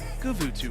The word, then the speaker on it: Guvutu: for some control on guvutu you can pronounce it however you'd like but we like to call it kuvutu for good reasons again